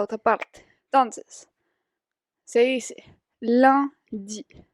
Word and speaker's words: lundi: Entonces, se dice lundi, lundi.